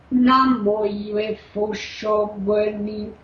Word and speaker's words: Namo Yue Fusho Guani: E a pronúncia é da seguinte forma: Namo Yue Fusho Guani. Estou repetindo. Esse Yue, o U, ele desce. O U é mais baixa a nota musical do que o I e o E.